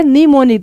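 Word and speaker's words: mnemonic: जिसमें काम होता है निमोनिक देखो एम साइलेंट है निमोनिक्स ऐसे लिखते हैं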